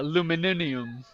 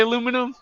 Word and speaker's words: aluminium: Adas yeah you also you also say uh aluminium how do you say aluminum aluminium aluminium yeah yeah yeah we're different all